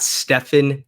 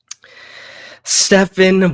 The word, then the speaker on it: Stephen: a killer this guy's an assassin I got Stefan Curry wow okay okay we we disagree but take it away Stephen Vale Curry yo sorry I said it wrong